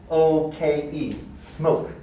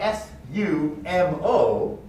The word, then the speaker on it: sumo: the word s-m-o-k-e smoke because the english pronunciation for s-u-m-o the letter u we haven't learned this yet but stressed unstressed so you get sue mo so the english pronunciation is sumo sumo if you say smoke we we don't hear that first loop right so cognates